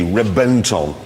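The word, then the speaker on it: Reventón: No, I know it's spelled with a V, but it's pronounced with a B. Why? I don't know. They've told us it's B. Reventon.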